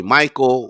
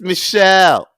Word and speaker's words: Michel: you'll see about his vince michelle but m-i-c-h-e-l and they'll just say michael or mikkel yeah just mikkel nico yeah let's get their friend i'll set myself up for something stupid all the time it's michelle no